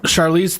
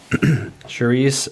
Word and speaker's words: Charlize: Charlize Theron. Charlie. Yeah. You don't know who Charlize Theron is? I mean, I might. Now am I saying it right? It's Charlize. Charlize Yeah, Theron.